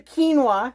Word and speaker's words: quinoa: for baking and we can't forget about the quinoa see I remembered how to say it thank